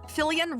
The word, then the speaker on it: Filian: Fillian rhymes with aliens.